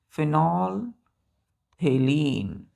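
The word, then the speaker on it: phenolphthalein: PHENOL PHTHALEIN, फिनोल थेलीन, फिनोल थेलीन। पीएच थोड़ा सा silent हो जाता है, मतलब साइलेंट नहीं, थोड़ा दब जाता है प्रोनाउंसिएशन में, तो क्या पढ़ते हैं?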